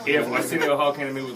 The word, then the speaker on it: Arsenio: I'm not even that familiar with Arsenio Hall's comedy. He just I'm rhymes. Not. It's just the name, rhymes with Millennial. If Arsenio Hall came to me with, like, what's your favorite joke of mine?